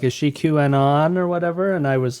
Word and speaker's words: QAnon: Don't ever say Q anon. QAnon. You just said it right.